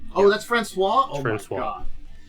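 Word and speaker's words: François: So also you pronounce you you pronounce it Francois. Oh that's Francois. Oh god. It's like when you say Franis I can say C is the little C there is pronounced differently. Yeah it's like an S w and then you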